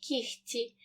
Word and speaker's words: кігті: г передки вимовляємо легко у слові кігті г перед ц вимовляємо кігті і в слові ні